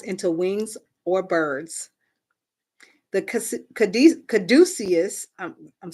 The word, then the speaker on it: caduceus: The caduceus, I'm saying it right, Caduceus, caduceus, which Hermes used as a staff, is often considered a symbol of health.